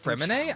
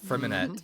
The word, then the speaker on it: Freminet: So the Oh, it's pronounced Fremine? I've always said Freminette.